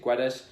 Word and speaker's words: Guedes: Gonçalo Guedes, I think that's how you pronounce it, Guedes.